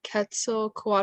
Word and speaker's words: Quetzalcoatl: For the story of Quetzalcoatl, I think that's how you say it.